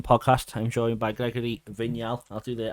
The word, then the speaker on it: Vignal: I'm joined by Gregory vigal I'll do the I'll do the French pronunciation for you thank you very much